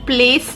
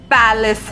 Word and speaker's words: palace: King Sher had built a magnificent palace in Jivanagar. Magnificent मतलब बहुत शानदार and palace मतलब महल. इसका pronunciation place नहीं है, palace है.